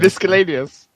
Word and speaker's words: miscellaneous: I don't think you need to pronounce the C in there, do you? It's miscellaneous, isn't it? That's still pronouncing the C, just in a different way. I know, but in the correct way.